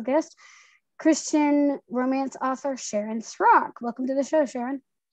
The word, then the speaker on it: Srock: My husband says it's Rock with an S in front of it. I pronounce it with I give it an H, Srock, 90% of the time,